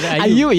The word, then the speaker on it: Ayew: Ayu ya, itu dibacanya.